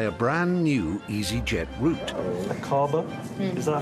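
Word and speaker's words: Aqaba: pilots to fly a brand new easyjet route acaba is that how you would pronounce it yes that's right iris it's acaba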